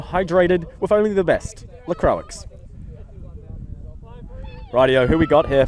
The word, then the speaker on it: LaCroix: How do you pronounce it? LaCroix? LaCroix? That are sparkling water stuff? What's that? LaCroix? Oh, LaCroix. LaCroix, yes.